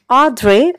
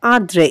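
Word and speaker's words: André: আ্যা এখানে উচ্চারণটা একটু খেয়াল করো। এটা একটা ফরাসি শব্দ। হ্যাঁ। তো পরাচছি শব্দ যেহেতু সেজন্য আমরা স্বরের উপর একটা চন্দ্রবিন্দুর মত উচ্চারণ করব। হ্যাঁ। অর্থাৎ এটা যদি তুমি একেবারে সঠিকভাবে উচ্চারণ করতে যাও তাহলে দন্তানের উচ্চারণটা এখানে হবে না। তার পরিবর্তে আমরা চন্দ্রবিন্দুর মত উচ্চারণ করব। অর্থাৎ আদ্রে অথবা আদ্রে এরকম হবে উচ্চারণটা।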